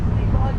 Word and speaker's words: Liloa: If Liloa gets a little bit hard to remember or to pronounce, just think of Lilo, like Lilo and Stitch.